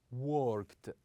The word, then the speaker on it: worked: We usually pronounce the ending of these verb with the sound ta. With the sound ta. For example, we say liked. Liked. Also, worked.